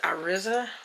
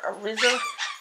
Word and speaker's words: Iriza: These are the, I think you'll pronounce it Iriza or Iriza. I-R-I-Z-A, I think is how it's spelled.